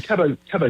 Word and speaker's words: Cabo Verde: So I think the official BBC line is we're going with Cape Verde, but I think if you're there, Cape it is Cabo. I think Cabo is right, Cabo Verde or Cabo so Phil Verde.